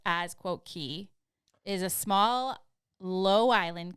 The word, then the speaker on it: Cay: of people I mean me and immediately say Cast Away K that being said or say whatever right so a k also spelled key both pronounced as quote key is a small low Island consisting mostly of